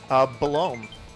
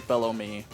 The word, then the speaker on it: Belome: And this, how do you pronounce this boss? Belome. Okay, it's same as me. I also say Belome. I've heard people say below me. Like the sandwich meat.